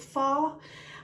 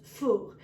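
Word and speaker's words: phở: to do a foo pho you might pronounce it fall but the proper pronunciation is full Vietnamese soup and I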